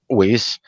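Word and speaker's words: Weiss: anybody wants to access uh specific information regarding whis you can just go online and here and look up lease and Associates it's spelled w-e-i-s-s whis and Associates and in fact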